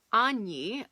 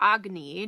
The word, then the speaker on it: agni: idea from ayurvedic medicine it's called any or agni depending on how you want to pronounce it and it's the idea